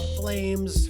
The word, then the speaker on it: PFLAMES: Flames, forget the P, everybody. The P is silent.